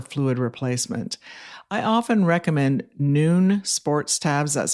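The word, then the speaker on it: Nuun: part of her fluid replacement I often recommend noon Sports tabs that's spelled nuu n Sports tabs that contain roughly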